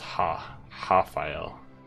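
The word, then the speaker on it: Rafael: And yes, it's pronounced Hafael.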